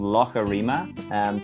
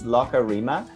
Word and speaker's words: Loughareema: So it's called Loughareema. So it's that kind of word. In Ireland and Scotland, they call a lake a loch. So it's Loughareema.